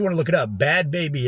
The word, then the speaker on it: Bhad Bhabie: to look it up bad baby as bhed and baby BH a bie pronounced bad baby alright coming out hard